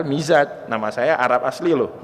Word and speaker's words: Mizaj: Nama saya dulu di Mesir dipanggil Mazaj, padahal Mizaj, nama saya Arab asli